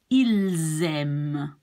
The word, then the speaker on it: ils aiment: But since this starts with a vowel, you will be linking the S to the A. Ils aiment.